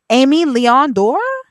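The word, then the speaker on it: Aimé Leon Dore: Amy Leon Dore?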